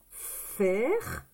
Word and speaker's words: faire: Donc, nous allons, espace, faire. D'accord? C'est comme ça, hein? F, A et I, ça fait le son et. Faire.